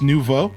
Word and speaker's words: nouveau: Oh, it's French for new? Okay, so it's just nouveau?